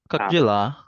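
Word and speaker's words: как дела: Kakjela. Kakdela. Kakdela. Kakjela. Kakdela. Kakdela. Delia. Kakjela. D ketemu Y jadi bacanya J ya.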